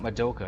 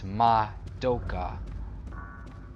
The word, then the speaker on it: Madoka: some skylance Moka Moka it's not Moka it's Madoka that's their pronunciation they did that in